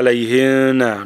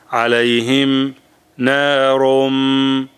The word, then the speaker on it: عليهم نار: people they will write alayhina. No, it's not ikhfa, it is idhar. Alayhim narum rum.